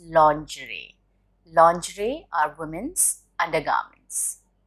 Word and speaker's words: lingerie: development development lingerie no this is the most mispronounced word it's not lingerie it's lingerie lingerie are women's undergarments pronouncing no it's not